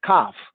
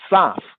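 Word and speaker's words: כף: At the 81st verse, going 8 verses down, we have Kaf, not Saf. The C was not pronounced as an S sound. That's only in later day confusion English as Kaf.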